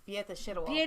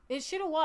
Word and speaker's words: Szydło: And that's why I went to Beata Szydło back because I finally learned how to pronounce her name. No, it's Beata Szydło. Beata Szydło. Szydło. It's Szydło.